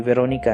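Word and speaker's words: Véronique: इसी बीच, यूरोप के दूसरे छोर पर, फ्रांस में, एक लड़की है जिसका नाम भी वेरोनिका है। लेकिन फ्रेंच में इसका उच्चारण थोड़ा अलग होता है। इसका नाम वेरोनिक है।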